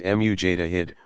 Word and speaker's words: mujtahid: Some legal specialists rise to greater prominence because of their erudition, earning the title mujtahid. Pronounced mujtahid, one who exercises independent investigation of the sacred sources.